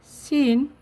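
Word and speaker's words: scene: pronunciation হয় silent লেতা ঠকা কিছু word হল সিন এস সিই এনই সিন সাইলেন্ট লেটার হল সি ঠিক সাইন্স এস সি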